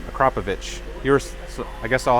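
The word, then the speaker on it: Akrapovič: from the last video Marco says that you are pronouncing acropovic the right way how are you say it again yeah a crop acropovich you're so I guess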